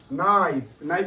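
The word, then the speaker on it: knife: you wanted to know মানে তুমি জানতে চেয়েছিলে তাহলে নোর উচ্চারণ এখানে কে এর উচ্চারণ হয়নি নো মানে জানা নাইফ নাইফ মানে কি বল ছুরি ন্যাপ মানে হল হাতুড়ি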